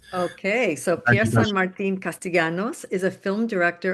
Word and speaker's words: Pierre Saint Martin: to Spanish um my my name that is French. So, I say Pierre Saint Martin. That's the way that I that I use it. Okay, so Pierre Saint Martin Castellanos is a film